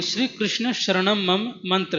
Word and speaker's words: कृष्ण: बस कीर्तन के समय कृष्ण की जगह कृष्णा निकलता है, तो क्या यह उचित है और इसका कीर्तन कर सकते हैं? देखो, यदि ये करना है तो शुद्ध उच्चारण से करना चाहिए। श्री कृष्ण हो ऐसे बोलना है।